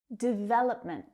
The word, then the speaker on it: development: Development. Development. So you can hear that stress is on the second syllable. Development. That third syllable reduces down to the schwa. We don't hear oh.